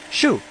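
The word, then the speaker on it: 树: because how do you say tree in Chinese Sho Sho and nut is at the top the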